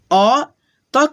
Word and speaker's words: अतः: ठीक है, अ त के आगे दो विसर्ग, तो पढ़ेंगे विसर्ग को ह के रूप में अतः।